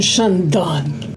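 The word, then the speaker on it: Chandon: We then headed to the most glamorous estate on our tour, the man Shandon. And yes, I do know how this one is actually pronounced.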